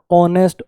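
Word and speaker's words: honest: और अच्छा समझ में आएगा, नीचे वाले देखो, एच साइलेंट है, आर आयर उत्तराधिकारी, आयरस कोई लड़की उत्तराधिकारी हो, ऑनेस्ट, ऑनर, ऑनररी, एसएमएस समझ थोड़ी है ये, एसएमएस अ की आवाज है पहले, आरटीआई, एमएनसी, एलएलबी।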